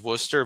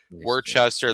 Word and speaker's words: Worcester: was in a town called the the actual pronunciation of the town is is Worcester but the Wiggles kept like struggling to pronounce it like it was like Worchester.